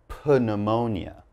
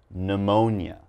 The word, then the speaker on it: pneumonia: not going to say pneumonia okay the p is silent so all i'm gonna say is pneumonia okay and uh pneumonia